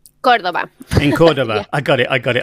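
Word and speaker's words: Córdoba: She comes from, is it Cordoba, or do you pronounce it Chordoba? Cordoba.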